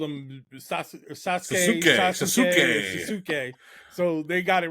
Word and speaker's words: Sasuke: He was definitely the great Sasuk for the longest time. But over the years, I've learned that it's pronounced Sasuke.